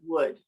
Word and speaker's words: would: So we have the word good, and then so kind of like my desk is made out of wood, madera. It's the same sound for the word would. Okay.